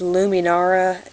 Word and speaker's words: Luminara: slightly newer this is I think it's pronounced luminara like Lum like luminescence kind of I'm not for sure